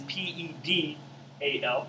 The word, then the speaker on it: pedal: b-a-s-a-l and pedo is p-e-d-a-l almost like petal but pronounced pedal disc it's able to